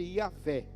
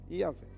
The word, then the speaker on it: Iavé: Porque não tem vogal. Não tem vogal. É a palavra YHWH. Não tem vogal. Alguns judeus, no decorrer dos anos, eles meio que formularam um nome para se tornar pronunciável. E aí eles começaram a chamar Deus de Iavé. Iavé. Quando escreveram a Bíblia em português, esse Iavé se tornou Jeová para nós.